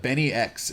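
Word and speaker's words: BNYX: This Benny X is how you pronounce the producer's name on Fafo, and he's I'm gonna look him up, man.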